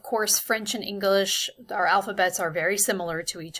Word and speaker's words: alphabet: as you will see this is the same exact word we use in english we just pronounce it differently in french so that the t is silent at the end and anytime you're learning